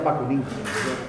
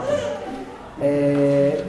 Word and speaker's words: Bakunin: Cuya figura en aquel momento más conocida fue Bakunin, o Bakunin, se pronuncia Bakunin, lo hemos castellanizado y decimos Bakunin.